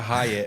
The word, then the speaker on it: Hayat: It wasn't the Hayatt, it was the Hayatt, which means life.